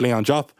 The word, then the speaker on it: Leon Diop: I suppose I'm actually going to pronounce my name properly. It's Leon Diop.